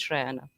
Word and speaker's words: Shrayana: Let me just say, because I have been on countless things where nonchalant they're just saying Sharanya, Sharanya, despite being told. So thank you for thinking about the pronunciation. It is Shrayana.